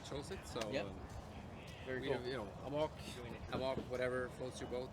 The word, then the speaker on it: Amok: In Norway we say Amok. Amok. But okay. Amok is a international word. That's part of the reason we chose it. So very cool. Amok, whatever floats your boat.